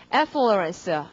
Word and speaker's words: affluence: 강세가 앞입니다. 발음은요. affluence. 이렇게 될 테고 자, affluence 강세를 강하게 해줘야 된다.